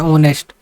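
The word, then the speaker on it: honest: अब क्यों लेता है क्योंकि जो नेस्ट है ना इसमें एच वर्ड साइलेंट हो जाता है और उे ऐसे लिखा जाता है ऑनेस्ट तो जो ऑनेस्ट आ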